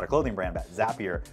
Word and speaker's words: Zapier: They have to actually create a commercial that Zapier makes you happier, right? That it rhymes with the word happier so that people would know how to actually say it.